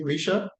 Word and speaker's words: Risha: pronouncing your word correct your name correctly Risha yes you are um yes go ahead